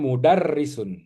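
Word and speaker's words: مُدَرِّسٌ: Dia sistem penulisan ee kasrah bertasdidnya. Kasrahnya ditaruh di bawah tasjid. Jadi bukan di bawah r-nya. Jadi ro ini dibaca kasrah. Heeh. Jadi ini dibacanya mudarrisun ya.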